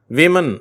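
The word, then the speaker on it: women: அந்த இரண்டாவது எழுத்து ஓ ஆனால் இந்த வார்த்தை எப்படி உச்சரிக்கணும் விமன் அப்படின்னு உச்சரிக்கணும் விமன் என்று சொல்லி ஓ என்ற எழுத்து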